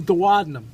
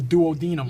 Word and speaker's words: duodenum: out of the stomach, this is the duodenum, or for those of you who prefer English, the duodenum. Yes, that's the way we like it. Yeah, that's the way you like it. It's both spelled the same way.